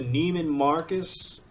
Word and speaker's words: Neiman Marcus: But if you go to a Neiman Marcus, that's how you say it.